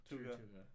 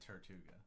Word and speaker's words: Tortuga: Tortuga. You could pronounce it Tertuga.